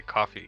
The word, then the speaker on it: Ko-fi: I'm gonna say coffee because it rhymes with Coffee Sketch Podcast.